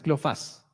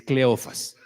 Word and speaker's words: Cleofas: Ojo que no es Cleofas, no se va a confundir. Mire su Biblia, no tiene acento en la es Cleofas.